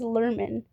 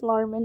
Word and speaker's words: Lerman: His name is pronounced as Lerman. I am still learning that. I thought it was Larman this whole time.